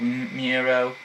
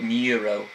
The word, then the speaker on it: Miro: Some people call it Miro, but I call it Muro, because the U is like makes more sounds like a name than Muro. That's how I say Miro. So that's how I pronounce it.